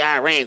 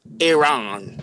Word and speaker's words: Iran: As a TikToker says, you Americans say Iran, it's Iran.